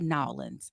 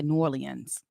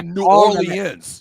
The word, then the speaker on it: New Orleans: And the people from New Orleans don't say Nolans. That's the marketing that people from New Orleans say New Orleans. They say New Orleans. They say all the syllables.